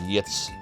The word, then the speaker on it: Ys: vow symbol tells you that it's Ys it's pronounced that way not like Yachts or yotes interesting so oh interesting